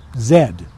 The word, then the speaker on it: Z: Zulu you heard correctly we Americans say Z so that the letter can conform to b c d e z the British most Canadians the Australians and the new zealanders and the South Africans they all prefer to say Zed a through Zed but